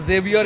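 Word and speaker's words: Javier: These are horse tracks for sure, but तो मैं और ये भाई साहब जेवियर या हैवियर जो भी आप इनको बोलो, क्योंकि कई बार ये वर्ड हैवियर नाम से प्रोनाउंस होता है, बट मैं हम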